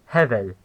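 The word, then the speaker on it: הבל: It's two syllables with stress on the first.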